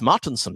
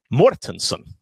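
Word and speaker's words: Mårtensson: no magnus's name is not magnus martinson magnus his name is magnus mortensen because he has this swedish letter with a day a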